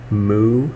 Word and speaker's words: mu: It's pronounced mu, I believe.